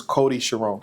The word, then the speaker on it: Cody Chiron: something during the battle we got to say his name properly so it's actually Cody Chiron yes his new name is Cody Chiron Cody Chiron that's his name called Cody Chiron Cody Chiron Cody